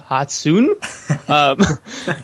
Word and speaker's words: Hatsune: title refers to miku hats how do you pronounce it hatsune hatsune no um uh yeah the blue haired vocaloid